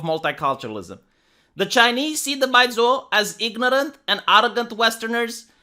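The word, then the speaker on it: 白左: Baizuo, pronounced Baizuo, is a Chinese epithet meaning naive, Western educated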